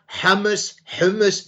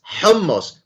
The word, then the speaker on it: hummus: And hummus, and it's not hummus, it's hummus. Pronounce it properly.